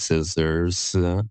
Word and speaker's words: SSRS: and so mine or SSR and my last name ends with an s so it's kind of like scissors okay cool and then